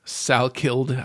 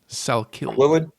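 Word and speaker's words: Salkilld: Salkilid, I think is how it's pronounced. Quillen? Salkilid.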